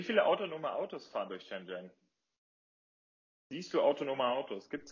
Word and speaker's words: Shenzhen: Also im Chinesischen wird das Z nicht als Z ausgesprochen, sondern als Zhi, also Shenzhen.